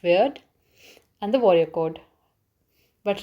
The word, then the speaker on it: wyrd: The early poetry reflected pagan beliefs like courage, faith, also written as WYRD, pronounced weird, and the warrior code.